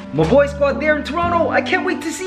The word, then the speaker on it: Toronto: Toronto! What? When? Soon. Oh my gosh, my boy squad! Did I pronounce it right? Toronto?